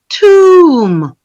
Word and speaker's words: tomb: We saw that unfortunately, bomb, comb, tomb. These are 3 different vocabularies with 3 different vowel sounds.